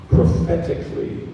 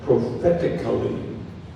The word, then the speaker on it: prophetically: And this has a couple of pronunciations, so I'll give them both. Prophetically, prophetically, or prophetically, prophetically.